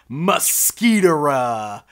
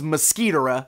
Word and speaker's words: Mo-Squit'ra: In the show, I definitely think it was Mosquitor'ra is the way it was being pronounced.